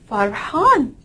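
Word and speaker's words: فرحان: if and then noon can somebody read it Farhan says but hon it means happy in tests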